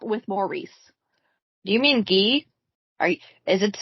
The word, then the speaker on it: Guy: No, you didn't, my guy.